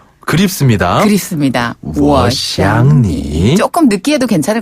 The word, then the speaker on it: 我想你: 여기서 주의하실 점은요. 네. 한국어에 그 쌍시옷 발음이 들어가는 것처럼 하면 욕으로 욕처럼 잘못 들릴 수도 있겠네요. 잘못 느끼실 수도 있으니까.